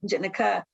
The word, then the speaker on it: Jennica: jennica robles and so i hope that i pronounced your name properly jennica um why don't you go ahead and unmute if you can and ask your question hi yeah thank you you pronounced it properly so thank you wonderful